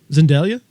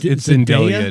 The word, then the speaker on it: Zendaya: I think you're saying her name wrong. Zendaya. There's no L. It's Zendelia now.